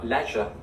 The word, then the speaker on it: leisure: Leisure. Leisure. Leisure. There you go. Sounds like lesion.